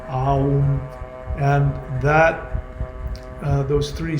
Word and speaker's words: Aum: There are three syllables to it: A, U, Om, Aum, and those three syllables are the third dimension.